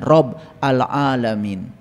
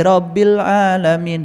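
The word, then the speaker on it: رب العالمين: Itulah yang disebut dengan Rob al-Alamin. Suka baca kan? Suka. Bacanya aja kalian keliru. Alhamdulillahi Rabbil Alamin. Hirob. Hirob itu perang.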